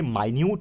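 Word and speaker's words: minute: 2 मिनट में आया, ये मिनट इस प्रकार है। और ये माइन्यूट है। ठीक है, स्पेलिंग दोनों सेम है लेकिन दोनों का प्रोनाउंसिएशन भी अलग अलग है और दोनों का मीनिंग भी अलग अलग है।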